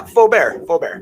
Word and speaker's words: Faubert: Yeah, Faubert. Faubert? Faubert, yeah. Okay. Like nice and French.